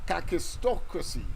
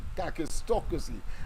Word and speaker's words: kakistocracy: O2 Cy c r a c y so kakistocracy kakistocracy yes I have I admit I have had some problems in pronouncing it because of its PR I should